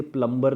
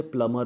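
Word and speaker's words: plumber: को बुला दो, गाइज ये प्लम्बर नहीं होता, ये प्लमर होता है. इसको हम बोलेंगे प्लमर, प्लम्बर नहीं. ये प्लम्बर pronunciation is very very wrong, so this is प्लमर.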